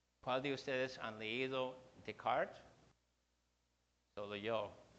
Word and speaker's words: Descartes: Ustedes creo que dicen Descartes, el nombre es francés, se pronuncia Descartes.